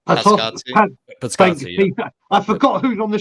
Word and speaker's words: Paratici: Pascazzi.